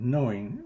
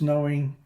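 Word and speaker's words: gnowing: have coined the word knowing is spelled g-n-o-w-i-n-g not k-n-o-w-i-n-g some would call this a rather esoteric or affected utterance but i prefer to think of it simply as a way of expressing the truth of the matter as a practice as a practical matter we know and no begin with both a silent letter but i like g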